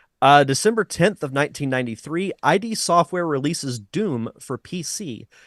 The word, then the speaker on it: id Software: Joey's correcting you in the chat room it's ID software thank well thank you Joey ID software releases